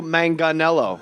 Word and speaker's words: Manganiello: everything joe rogan kills joe manganello hard g everybody rogan is a